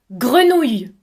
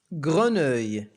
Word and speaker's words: grenouille: OU se prononce OU comme le mot vous. ولدينا أيضا E 2L se prononce I comme le mot taille. E لا تنطق. Je ne sais pas si c'est une grenouille ou un crapaud.